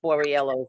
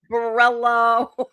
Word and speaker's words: Borriello: he never could pronounce Borriello's name. So I would write it out for him. Borriello. He would still mess it up and call him Borello.